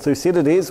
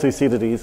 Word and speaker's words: Thucydides: It's, don't worry about the pronunciation, just think of two CDs and it's more or less close enough.